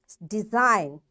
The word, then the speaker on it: design: Design, G is silent.